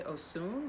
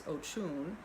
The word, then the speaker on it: Oshun: But Oshun, when she was carried here, I think she was originally Osun, but I think it's pronounced Oshun. I've always known her as Oshun, but that means nothing. I'm no expert.